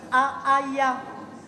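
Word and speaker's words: Haaiah: Alors on dit A-A-Ya.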